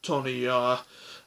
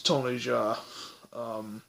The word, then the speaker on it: Tony Jaa: with Tony Jaa, and like I might say Tony Jaa, but it's Tony Jaa, is how you pronounce it.